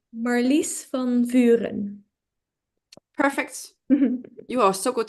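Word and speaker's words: Marlice van Vuuren: Marlies van Vuren.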